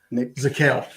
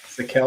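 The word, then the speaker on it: Zakelj: Nick Zakel. Zakel. The J is silent.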